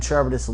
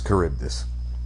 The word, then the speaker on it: Charybdis: finding out that uh one of cilla and charbottis lived afterwards it seemed very clear that they both died in the last one was semi-confusing yeah a little bit and it's charybdis whatever yeah it's curved this right haven't you